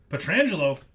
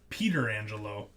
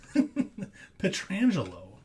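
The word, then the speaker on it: Pietrangelo: Petrangelo, or as Barry Melrose likes to call him, Peter Angelo.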